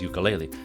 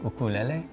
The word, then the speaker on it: ukulele: And by the way, many people know it as ukulele, but it's actually pronounced differently. The proper pronunciation is ukulele.